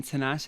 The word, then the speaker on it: Tinashe: How do you pronounce it? Tinashe. Tinashe. Okay.